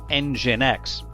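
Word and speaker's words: NGINX: Services or IIS or NGX, which is actually pronounced EngineX. Now, Apache is very commonly used. It's an open-source platform that typically runs on Unix or Linux systems. IIS is a Microsoft proprietary platform and EngineX is also open- source and runs on just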